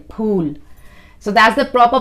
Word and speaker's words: Phool: says pool it's p h double o l pool so that's the proper pronunciation of it pool not food food is like the english fool you know